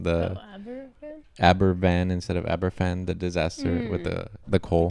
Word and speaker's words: Aberfan: It seems like you did, especially the Abervan one. I saw you guys were correcting. It's not, you pronounce it with a V. They were saying the Abervan instead of Aberfan, the disaster with the coal.